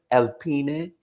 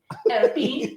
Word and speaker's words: Alpine: is looking like Somebody at how do you pronounce it? Alpine. Alpine, the French company.